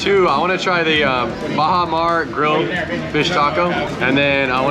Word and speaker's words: Baja Mar: You know how to pronounce it? Baja Mar.